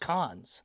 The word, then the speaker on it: Cannes: I think it's pronounced Cons, Oh, okay. not Raising Canes, because I used to say Canes also, and someone was like, no, it's Con.